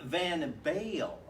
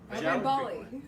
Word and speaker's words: Van Bali: We're going to play for Mark Van Bale, I Mark? believe. Van Bali. Mark Van Bali. Bali. I pronounced it Bale.